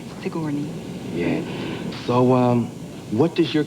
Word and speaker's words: Sigourney: than it is you I get Signori and saguni but it against Sigourney Sigourney yeah so what does